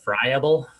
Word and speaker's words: friable: for aggregable fragrable and it's pronounced friable which i think i pronounced it wrong a lot so i